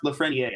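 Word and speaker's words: Lafrenière: I think his last name is pronounced Lafreniere, actually. So we got to come up with something different. It's very, very fucking French.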